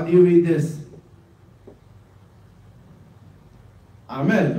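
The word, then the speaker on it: أحمد: Ahmed. Get it? Ahmed. The ha in the beginning looks like this. Ahmed. Ahmed. That's how you read it.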